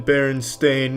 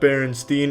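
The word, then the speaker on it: Berenstain: It's always been Baron Stain, not Baronstein.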